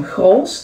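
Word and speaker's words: Grolsch: So now we have some Grols. That's how you pronounce it.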